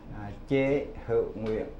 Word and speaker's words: Chế Hữu Nguyễn: to state his own name so that he pronounces it correctly. So again, what is your name? Your name? Chế Hữu Nguyễn.